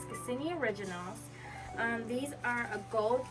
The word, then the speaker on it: Cassini: Now, these are by Cassini, yes, I'm saying it right, Cassini Originals.